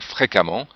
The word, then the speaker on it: fréquemment: termine par amant comme fréquemment et avec la particularité ici du E qui se prononce comme un a mais c'est un e